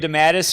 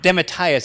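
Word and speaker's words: DeMatteis: coming as well jm demattus who uh demitaius actually i think he said is pronounced um you know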